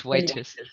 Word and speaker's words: Whitis: Aujourd'hui, nous avons le plaisir d'avoir Jondi Whitis, how you pronounce? It's Whitis.